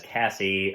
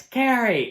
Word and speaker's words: Carrie: because of the incident he repeatedly mispronounces her name as Cassie of course Carrie freaks out and light up being like it's Carrie and flips the ashtray